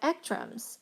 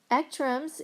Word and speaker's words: ECTRIMS: So Ekrems, okay. Ekrems, if you don't know, it's spelled ECTRIMS.